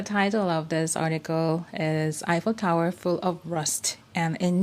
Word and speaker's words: Eiffel Tower: で発音するときは Eiffel Tower というふうにね発音するんですね。